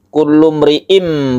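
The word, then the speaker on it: كُلُّ امْرِئٍ: Iklab artinya membalik dari suara tanwin menjadi m atau mim mati, sehingga membacanya itu kullu mri'im, bukan n tapi m.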